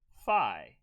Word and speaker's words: phi: this is american english if you were british you would say tata and fee okay like fifa full fund right but we're we're in a usa so we say theta and phi okay so let's take